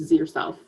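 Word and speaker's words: zirself: It's Z yourself. If you think Z, zir, zirs, and then you'd insert it into the longer word, so no problem.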